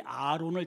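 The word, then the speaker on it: ארון: 여기 궤라고 하는 히브리 언어의 발음이 아론입니다. 아론.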